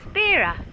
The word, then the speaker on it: Vera: have a look at Vera or pronounce birra birra blower yes so right